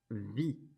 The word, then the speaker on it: vis: The form for the je is je vis, like that. Remember to not pronounce the S.